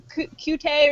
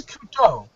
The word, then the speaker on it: Couteau: And how do you pronounce that? Is it like Kute or something? It's Couteau.